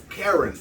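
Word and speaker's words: Caron: some karen rosario yeah karen yeah this name is okay it's spelled c-a-r-o-n not like white woman okay quran no that's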